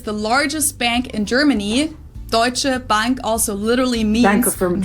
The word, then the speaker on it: Deutsche Bank: Deutsche Bank also literally means Bank from Germany.